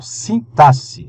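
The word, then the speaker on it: sintaxe: aí terceira parte pessoal sintasse Essa é a pronúncia correta tá Sasse o que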